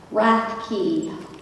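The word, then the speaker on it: Rathke: if you would please state your name and spell it yes my name is wrath key r a t h k e please go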